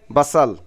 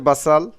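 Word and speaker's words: بصل: পেঁয়াজকে বাসাল, পেঁয়াজের সঠিক আরবি হচ্ছে বাসাল। তো আবার সৌদি আরবে বলে থাকে বসাল বা বসল, বসল বা বাসাল। উচ্চারণ এক এক ডিস্ট্রিক্ট থেকে অন্য ডিস্ট্রিক্টে একটু পার্থক্য হতে পারে, আবার মুখের ভাষার উচ্চারণ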